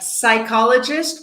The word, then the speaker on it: psychologists: the P right like psychologists we don't pronounce the P or psychotherapy or pterodactyl